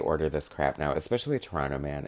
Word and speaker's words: Pteranoman: this crap now, especially Petrano-Man. It's so good. And it sounds like Toronto Man if you're having trouble pronouncing it, but it's obviously pterodactyl, play on words.